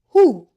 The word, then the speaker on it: who: Wh says H. The W is silent. Who?